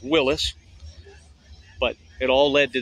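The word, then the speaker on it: Willys: original company people call Willies it's pronounced Willis but it all led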